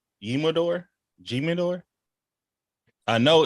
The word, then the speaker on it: Jimador: out it's hitting though it's the H sound I never heard of